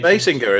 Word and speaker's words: Basinger: And this stars Michael Keaton, Kim Basinger. I did look it up. That's the correct pronunciation. Basinger, is it not Jer?